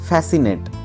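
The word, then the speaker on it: fascinate: ওঠা নেক্সট দেখো আছে ফ্যাসিনেট ফ্যাসিনেট এখানেও C silent F এস সি আই এন এ টি ফ্যাসিনেট কথার মানে হচ্ছে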